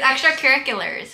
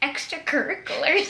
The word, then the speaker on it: extracurriculars: Extracurriculars. I said extracurriculars. Why do you say it like Wait, that? What do you say? Extracurricular. See? No, you said like cur, not cure.